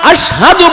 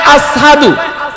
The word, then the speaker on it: আশহাদু: আশহাদু বলতে পারেন না, কয় আসহাদু। ওই যে জিহ্বার মধ্যে পেরেক মারছিল উমাইয়া, এই কারণে জিহ্বা দিয়া শিন উচ্চারণ করতে পারেন না, একটু মুখে বাজে, সিন হয় সিন, আশহাদু হয় না, আসহাদু হয়।